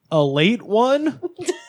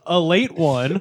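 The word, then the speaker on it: Ale-8-One: this is something called a late one uh it's it says ale 81 but it's pronounced a late one a late one uh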